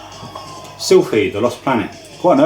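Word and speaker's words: Silpheed: Sylphid, The Lost Planet. Quite an early shooter as well for the PS2. I used to call it Slipheed.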